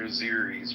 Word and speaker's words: Azeris: Azerbaijanis? Azeris.